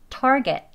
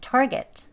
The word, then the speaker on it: target: 힘 빼시고 car, car 이렇게 발음하시면 되겠습니다. 두 번째 단어 볼게요. 목표라는 단어죠? target. 예, target.